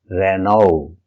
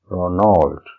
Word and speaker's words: Renault: Our next brand is Renault, and it's pronounced as, in UK, Renault, Renault, and in US, Ronald, Ronald, or Renault, Renault. Our next brand is Reuters, and it's pronounced as Reuters, Reuters.